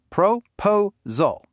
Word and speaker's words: proposal: The stress is in the middle. Proposal. That means the first syllable pro and the last syllable saul are unstressed. And what happens to unstressed vowels? That's right. They become the weak schwa sound. So we hear proposal. The rhythm is weak, strong, weak. Du du duh.